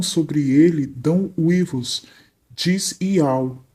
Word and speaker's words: YAUH: com som de U, e o último H é o Rê mudo, assim como em português no hebraico também o último H é mudo. Temos aí o nome do Criador revelado, Iau.